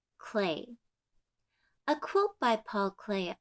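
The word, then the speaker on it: Klee: it's spelled kle e but it's pronounced clay a quote by Paul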